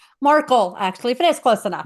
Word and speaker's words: Markel: Um, let's welcome Marcel. That did I pronounce that right? Markle actually, if that's close enough.